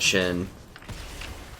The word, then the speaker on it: Shen: so Zen has kills xen or however you pronounce that Shen not Shin Shin but whatever Z has